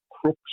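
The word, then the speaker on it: Crux: southern constellations such as the Southern Cross or Krux or Crooks as I I'm told it should be properly pronounced in Latin.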